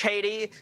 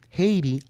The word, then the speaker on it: Haiti: Thus everybody leaves Haiti, it pronounced correctly, not Haiti. The H is silent.